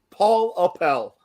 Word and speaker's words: Appel: sorry I I said I said it wrong Paul Appel I keep talking wobble like Falafel I was saying last year I think of the actress Paula Pell and that's how I did it and now I'm saying